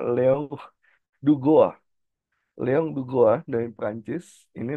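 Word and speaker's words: Duguit: tokoh dari Perancis nih ini kalau bahasa Indonesia bacanya Leon dug tapi kalau bahasa Perancis bacanya Leong dua Leong dua dari Perancis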